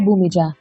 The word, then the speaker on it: Bhumija: in this segment is bhumija am i pronouncing your name right bhumija yeah yeah correctly oh superb so mija